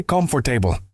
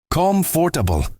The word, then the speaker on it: comfortable: And comfortable, I used to say comfortable until someone corrected me. It's comfortable, Maria. Like comfy.